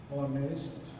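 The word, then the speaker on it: honest: তাহলে আমরা দেখলাম এইচ এর উচ্চারণ যদি অ হয়, যেমন হি ইজ অনেস্ট ম্যান। এখন এই যে অনেস্ট শব্দটা, এটার উচ্চারণ, এই এইচ এর উচ্চারণ হয়েছে অ, এই যে অ।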